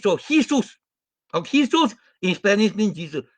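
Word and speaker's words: Jesús: Vargas, no, J is like an H, so Jesus.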